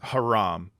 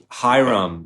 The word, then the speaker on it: Hiram: His name is Haram. His name is Barak Haram. It might as well be, Barry Trafe. You know what I mean? But it's actually Hiram, like it's spelled Hiram, but meaning like the king